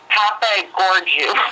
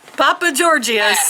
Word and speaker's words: Papageorgiou: Papa Gorgiou. I'm going to spell it for you. It's like Papa Gigio. It's like it was a movie character. Yeah. Yes, it's PAPAGEORGIOU. Wow. Okay. Papa Georgius or something.